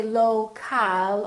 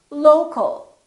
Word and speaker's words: local: syllable here low low but we don't say low cal or low cal we reduce the second syllable and it becomes the uh local local so you see